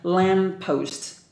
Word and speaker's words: lamppost: Do you remember we just mentioned that lamppost? Lamppost. Two letters, they're the same, just pronounced once.